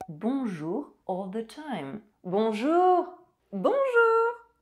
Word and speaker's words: bonjour: O is nasalized and N is not pronounced. Bonsoir. Bonsoir. Bonjour. Bonjour.